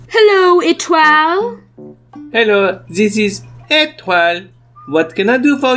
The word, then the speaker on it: Étoile: to the campsite hello itral hello this is etwal what can i do for you fuzzy i'm